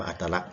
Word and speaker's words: อัตลักษณ์: หา อัตลักษณ์ นะ ครับ คำ นี้ อ่าน ว่า อัตลักษณ์ นะ ครับ และ สถานะ ตัว ตัว